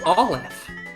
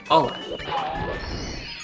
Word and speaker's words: Aleph: It's Aleph. Aw being the emphasis syllable. Aleph.